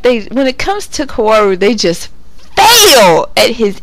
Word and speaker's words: Kaoru: I'm probably saying that in a way that will make people hate me, but that's how I usually pronounce it. Koru, some people say Kaoru. I hate Kaoru, but I say Koru.